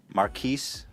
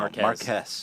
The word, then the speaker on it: Marques: Um, no, he is the excellent and wonderful Maris. Did I say it right? No. Marquez. Marquez. Marquez Brown. I always called you Marcus.